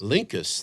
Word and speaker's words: Linckus: forget it all I will feel bad uh lincus Linkus that's right Florin Linkus that actually sounds yes